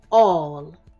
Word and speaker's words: all: say walk that's right this word says all a l l as in we're going to find all of those words aren't we this is a very short word but it's got tricky Parts it has an a that sounds like a o just like in walk it has two L's that are making one sound just like in